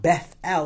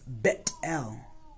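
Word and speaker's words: Bethel: dream sound it sounds stupid but the proper pronunciation is so it's not Beth L it's bet l and that's what he names this place the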